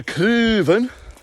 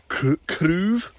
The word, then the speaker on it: craobh: This is one word I always hear mispronounced. Instead of the correct Gaelic word, I hear craobh or craobh. And it's tricky because it's probably one of the hardest Gaelic vowels to acquire consistently.